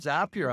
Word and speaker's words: Zapier: just like it's um zapier or something like that it's called zappier actually because it rhymes with happier I was tall yeah